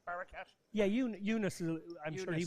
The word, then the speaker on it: Barakat: Barakat?